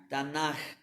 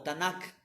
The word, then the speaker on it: Tanakh: Tanaj o Tanakh. Tanakh o Tanaj, está bien la pronunciación.